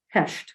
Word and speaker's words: Pest: on that side it's pests but I think they pronounce it Hesh Budapest two different cities